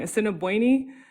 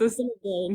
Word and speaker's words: Assiniboine: He was saying Assiniboine, which isn't a tribe. It's Assiniboine.